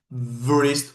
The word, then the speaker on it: wrist: It's not wrist or wrist. No, no. W-R in English. W is silent.